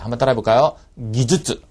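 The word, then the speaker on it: 技術: 말씀드리겠지만이 기줄 발음이 예 이건 앞뒤에 탁음이 다 들어가야 돼요 예 근데 많은 분들이이 타을 뺍니다 어 키즈 앞에 걸 빼든지 슈즈 뒤에 걸 빼든지 키슈 즈 둘 다 빼든지음 절대 안 되겠습니다 그죠 이거는 앞뒤 다음다 들어갑니다 한번 따라해 볼까요 기즈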